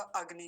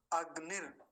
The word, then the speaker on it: अग्नि: बना हुआ है ऊपर और जब रेफ बना हुआ है तो इसका उच्चारण किसके बाद होगा अग्नि के तुरंत बाद होगा अगनि अगनि ही ऐसा बोलेंगे अगनि ही अभी ठीक